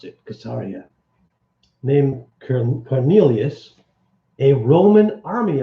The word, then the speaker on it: Caesarea: was a man in Caesarea that's how you pronounce it kesariya named Cornelius a Roman army officer of all